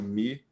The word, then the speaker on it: Mu: o nome dela é MU mesmo, ou MU? Como é que é isso? O nome é Mu, ou também tem a pronúncia Mi.